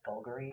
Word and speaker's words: Golgari: You have to say it like Bulgari. Like Golgari.